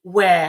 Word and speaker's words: Weir: on episode 2 to have the amazing where have I pronounced that correctly no that's correct and did